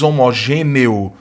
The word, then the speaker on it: homogêneo: Lembrando que sonoramente, esse E aqui tem som de I, né? Você diz homogêneo, você não diz homogêneo. Dificilmente alguém vai pronunciar dessa maneira. Na maioria dos casos, você vai ouvir a pronúncia homogêneo.